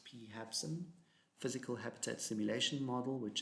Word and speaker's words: PHABSIM: PHABSIM, that's how it's pronounced, PHABSIM, Physical Habitat Simulation Model, which is another environmental flow assessment method.